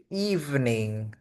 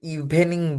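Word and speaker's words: evening: Good ইভনিং হচ্ছে শুভ সন্ধ্যা। Good ইভনিং শুভ সন্ধ্যা। আমরা অনেকেই বাঙালিরা এটাকে ইভেনিং বলে থাকি।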